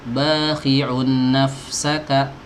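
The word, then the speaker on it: باخع نفسك: Bakhi'un nafsaka, sabar ya. Bakhi'un nafsaka, tahan dulu, n-nya dilamain, gitu, lamain.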